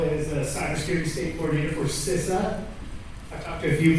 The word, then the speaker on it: CISA: I guess my official title is Cybersecurity State Coordinator for CISA. I talked to a few people this morning. I used to say it's CISA.